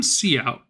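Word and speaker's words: cout: The name seeout is pronounced see out and is an abbreviation of character output stream.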